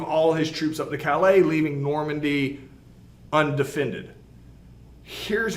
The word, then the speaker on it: Calais: this map you see dover and then it's callus but it's pronounced calais so this would be the this is the